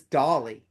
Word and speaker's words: Daly: Say his name isn't Daly. His name is Dolly. So just make sure you guys. Every other podcast gets me and name wrong. They call me Allen Taylor, and they call him Daly. He's Dolly.